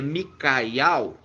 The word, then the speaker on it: Miqueias: Então, se pronuncia Micaial, e Mica significa o que, irmã Adriana?